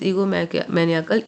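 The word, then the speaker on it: egomaniacal: तो देखते हैं, दिस इज स्ट्रेस, है ना, ईगो मैनियाकल, this word is ईगो मैनियाकल, ईगो मैनियाकल, मैनियाकल नॉट आकल, ईगोमैनिएकल, ठीक है, ये इसका प्रोनाउंसिएशन है।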